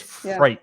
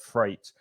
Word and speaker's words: freight: But if you take away the F and the R, you get the number 8, and that's the pronunciation. So it's freight.